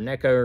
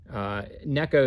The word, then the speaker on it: Neko: Japan but that that Nico rig or Neko rig Neko is the proper Japanese pronunciation as I'm as I'm